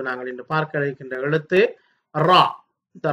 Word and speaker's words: ر: அந்த வகையிலே இப்பொழுது நாங்கள் இன்று பார்க்க இருக்கின்ற எழுத்து ரா. இந்த ரா என்ற எழுத்தை பொறுத்தவரையிலே இதனுடைய உச்சரிப்பு வல்லினமாகத்தான் அடிப்படையில் இருக்கும். ரா என்று சற்று கடினமாக உச்சரிக்க வேண்டும்.